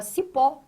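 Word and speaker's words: cipó: entende que a palavra sipó é acentuado. R, por que que si pó é acentuado? Porque a sílaba tônica está aqui, ó, na última posição, pó.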